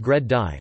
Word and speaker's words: GReddy: cars bretty is pronounced gred die from the words great and Eddy as in a strong swirling wind current referring to the strong